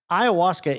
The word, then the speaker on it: ayahuasca: Have you ever heard of ayahuasca? Spell it.